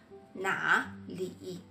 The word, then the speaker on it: 哪里: En effet, na li, c'est une combinaison de 3e ton plus 3e ton. Il y a une règle de prononciation sur les combinaisons. Quand c'est 3e ton plus 3e ton, le premier mot passe au 2e ton.